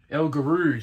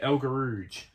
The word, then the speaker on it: El Guerrouj: There's Belkeli from Ethiopia, and there's so how does Bruce say his name? El Guerrouj. That's how he says it. El Guerrouj. El Guerrouj. That's how Bruce says it.